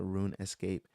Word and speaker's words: RuneScape: This game was called uh Runescape. Some pronounce it Rune Escape, but have you heard of it?